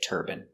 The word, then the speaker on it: turbine: hear turban but in England they say turbine some people in America say turbine but it's more common in America to say turbine example these are wind